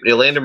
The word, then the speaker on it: Elandon: Kyle Van Noy and Elandon, am I pronouncing that name right? Elandon Roberts as their middle linebacker, their Mike linebacker.